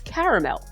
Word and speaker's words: caramel: How do you pronounce caramel? In that way, with 3 syllables. I mean, I accept caramel, though. I should just put that out there. Caramel is fine.